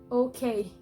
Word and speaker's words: okay: unstressed away and the other example is okay okay and the K is stressed okay okay the next example